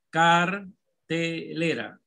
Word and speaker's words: cartelera: Cartelera, cartelera, cartelera, cartelera, cartelera, cartelera. ¿Cuál es la sílaba tónica? Jafet. Cartelera. Cartelera. La T, profe. La sílaba tónica es la le.